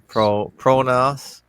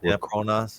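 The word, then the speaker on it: pronaos: Um, according to fake historians, the gray granite columns used in the pantheon pron how to pronounce that one. P pron pronas. Yeah, pronas.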